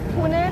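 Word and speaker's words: Pouneh: So, we'll start again with your name and spell it, please. My name is Pune.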